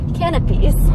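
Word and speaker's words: canapés: driving oh yeah that's it i checked the pronunciation it's canopies we'll have some canopies canopies we're in williamsburg now looking for one no it's 182.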